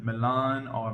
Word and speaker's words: Milano: I got this fragrance when I was in Milan or Milano as they pronounce it and I actually got to meet